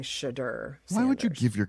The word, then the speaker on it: Shedeur: are you calling him Shitter? Is that how you pronounce Shedeur. it? It sounds like you're saying shitter. Shit or I'm not saying Sanders? shitter. I'm saying shudder.